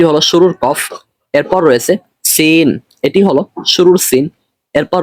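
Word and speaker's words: س: করতেছি আপনারাও এরকমই করবেন অনেকে রয়েছে উচ্চারণ করেন আদৌ সঠিক নয় বরং সঠিক উচ্চারণ হলো সেন এই সিনটি হলো আপনার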